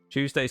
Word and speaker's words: Tuesday's: Tuesday's funny to some people. Why? I think it's because the way that some of us pronounce it is like the word chew at the front.